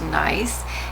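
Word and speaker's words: gneiss: very nice rock but that is pronounced nice and you can see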